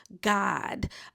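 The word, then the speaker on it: Gawd: host, me, the God. I want to make it very clear. I say it all the time, even though it's spelled g a w d, it is pronounced God.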